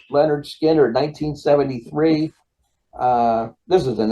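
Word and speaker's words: Lynyrd Skynyrd: a little southern rock Leonard Skynyrd's pronounced Leonard Skinner 1973.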